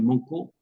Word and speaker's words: Mauco: François Dolto tinha um amigo naquela época que se chamava Georges Monco, ou Mauco, se escreve Mauco, né? Em francês se pronuncia Monco.